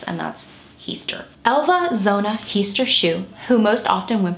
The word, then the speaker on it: Heaster: quite 100 sure but I'm gonna go with the way it looks and that's he's Elva Zona heester shoe who most often